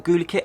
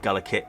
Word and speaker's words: Gulikit: can okay and also is it gala kit or google kit i'm going to start calling it gullikit because i think that's how you say it and here we have